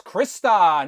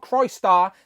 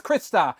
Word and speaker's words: Crystar: And not forgetting your favourite and mine, it is of course Crystar, not Crystar, despite the comments telling me I'm saying it wrong. It's Crystar, like a crystal.